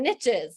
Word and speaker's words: niche: riches are in the niches so that's why I say Niche because it rhymes with riches but um it is